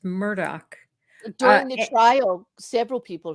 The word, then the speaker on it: Murdaugh: a murderer you know Anna says the news there pronounces it as Murdoch during the trial several